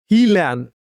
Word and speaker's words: Gnjilan: In his field on the outskirts of a small European town called, again, I'm trying to pronounce this uh European town called Gnjilan.